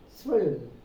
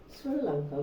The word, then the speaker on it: Sri Lanka: They go by the phonetics, the sound of the letter, and they pronounce L, not I. Srill. They had a L sound at the end. Sri Lanka, because that's what is written.